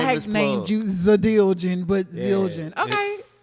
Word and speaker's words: Zildjian: No, it's how it's spelled. Zildjian. Zildjian. I never knew how to say it. The D side is Zildjian. Because I had named you Zadiljian.